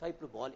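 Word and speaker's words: hyperbole: That's what we call the figure of speech हाइपरबोल in English. Clear हो गया है? यानी हाइपरबोल कई जगह इसका उच्चारण आपको हाइपरबली भी देखने को मिलता है, तो आप देखेंगे।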